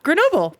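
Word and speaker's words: Grenoble: Chartreuse is made only by Carthusian monks of Lrron Chartreuse near I don't know how to pronounce this. I'm going to try Grenobyl France. Yeah, Grenobyl.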